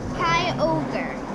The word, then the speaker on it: Kyogre: Kyogre.